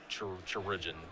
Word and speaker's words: Chirurgeon: What Danny needs to draw is Goblin Chirurgeon. How do you pronounce it? Is it literally just pronounced surgeon? It's like surgeon, but it's chirurgeon.